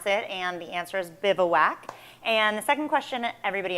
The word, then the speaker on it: Bivouac: So the first question that everybody asks is, how do you pronounce it? And the answer is Bivouac.